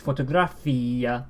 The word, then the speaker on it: fotografía: Whereas fotografia, Fotografia. fotografia, Fotografia. you can hear that the I is iya.